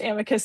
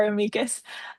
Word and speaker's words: amicus: Um because Latin is a dead language, no one actually knows whether it's pronounced amicus or amikas. Um I call it amikas.